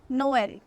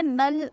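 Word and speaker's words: Noël: For example नोएल, अगर यहाँ पे त्रेमा नहीं होता तो ओ ई की साउंड अ होती है, तो ये नल होता। लेकिन क्योंकि यहाँ त्रेमा है तो ओ और ई अलग अलग प्रोनाउंस होगा, नो एल, नोएल। नोएल बोलते हैं क्रिसमस को।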